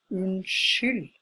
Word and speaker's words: unnskyld: We pronounce it unnskyld, not unnskyld like we write it, but unnskyld. The other word is du, you.